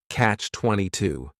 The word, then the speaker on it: catch-22: The word catch is just 1 syllable, and then 22 is 3 syllables, and the stress is on that final syllable, catch-22.